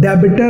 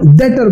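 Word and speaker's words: debtor: तो याद रखना बच्चों, डेबिटर नहीं बोलना, अच्छा इंप्रेशन मारो, डेटर बोलो, बी साइलेंट है, डेटर एंड क्रेडिटर।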